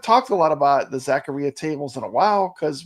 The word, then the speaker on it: Zaccaria: on ad games uh Jason says it actually does rhyme with diarrhea Zacharia am I saying it